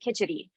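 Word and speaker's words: kitchari: how do you spell kitchery so there are actually a couple different ways of spelling it there are also a couple different ways of pronouncing it some people pronounce it kitchity and so uh I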